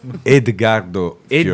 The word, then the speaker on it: Edgardo Fiorillo: Edgardo Fiorillo, Edgardo. sì. Scomodo Bellissimo. anche per l'aereo perché Edgardo. è Fiorillo pronunciato da me.